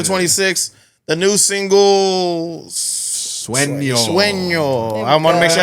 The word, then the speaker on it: Sueño: Sueño.